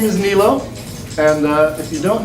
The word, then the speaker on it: Nilo: me anyway right okay great my name is nilo and uh if you don't know how to pronounce my name i've got a visual for